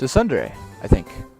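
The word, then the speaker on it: tsundere: Sun dare it's a Sunday I think it's t-s-u -n-d-e-r-e I think is how you pronounce it Sunday someone I saw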